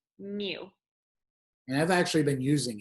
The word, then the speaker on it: mu: But if we knew the population mean, it would be this symbol right here, which is pronounced mu.